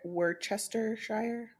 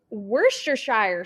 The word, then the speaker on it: Worcestershire: what other words are on here worst try were Chester Shire oh Worcestershire sauce what is it Worcestershire sauce I've never